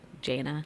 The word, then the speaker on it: J'na: they're just like so your name is like spelled like that like jna I'm like yes and they're like oh like what is it short for I'm like Jana like that's just that's my name and they're like wow